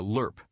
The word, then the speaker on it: LRRP: missions of the war as an LRRP a lerp as the acronym is often pronounced which stands for long-range reconnaissance patrol was